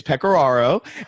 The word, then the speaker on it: Pecoraro: I hesitated here because I thought, I'm not quite sure how I pronounce this last night. Well, it's Pecoraro.